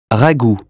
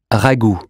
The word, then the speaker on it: ragoût: Ragoût. U or OU? Ou as in zoo. Ragoût.